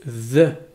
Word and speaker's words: the: a les articles définis c'est le the prononcé th avec le bout de la langue sur les dents ve c'est l'équivalent de